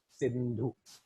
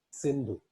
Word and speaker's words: Sindhu: hacia el lado occidental, ellos no podían pronunciar Sindhu, S-I-N-D-H-U. Este I para ellos no era pronunciable. Entonces, para llamar o para identificar la población que vivía hacia la parte oriental del río Sindhu, entonces les llamaban hindú.